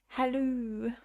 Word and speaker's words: Hallo: You write it as Hallo, but you pronounce the O as an oo. Hallo.